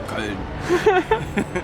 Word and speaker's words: Köln: In German it's Köln.